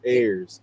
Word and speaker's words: Ayers: Like I got this air, and then I got some more of this air, so it's Ayers. But it's saying like air.